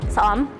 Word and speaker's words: ស្អំ: Sa-Orm? Sa-Orm.